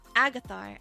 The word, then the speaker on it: Agathar: Oh, and Agathar, I've said it wrong. Okay, you said it's pronounced Agathar. Agathar, thank you.